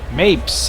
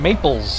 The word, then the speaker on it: Mapes: number seven Cliff Mapes Mapes I called them Maples I guess that was my bad but that's the 10th home run of the year for Collins here's mes rhymes with drapes their basan number 24